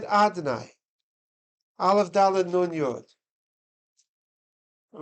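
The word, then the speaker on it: אֲדֹנָי: There's the way it's written, is Yud, then a Hey, then a Vav, and a K. And then we pronounce it Adonai.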